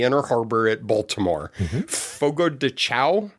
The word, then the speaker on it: Fogo de Chão: Fogo de Chão? Is that how you pronounce it? Not if you have any familiarity with Portuguese, but... Okay. At Fogo de Chão, it all starts with fire.